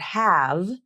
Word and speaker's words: have: the voicing for example the final V in the word have is almost always pronounced like an F consonant so without any voicing